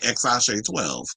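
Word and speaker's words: X Æ A-Xii: know baby Damian AKA xash 12 which is how you say his name so you got Nevada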